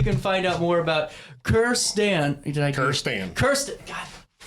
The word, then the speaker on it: Kirstan: My name is Kierstan. Everybody mispronounces it and says Kirsten or Kristen.